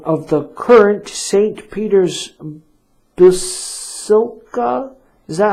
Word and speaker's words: Basilica: Peter's Basilica, is that how you pronounce it? Basilica, yeah.